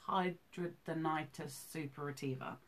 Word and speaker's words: hidradenitis suppurativa: right I call it HS but it's actually pronounced hidradenitis suppurativa okay and could you break down what that